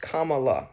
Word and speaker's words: Kamala: First, my name is pronounced Kama, like the punctuation mark.